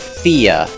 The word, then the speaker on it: Phthia: do I pronounce that I'm going to go with Thea it's like mnemonic or Ptolemy the initial consonant sound is silent so the pH we just ignore it now this area is